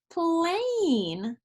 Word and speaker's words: plane: Yeah, this silent E makes the A say its own name. So instead of this being plan, it's plane.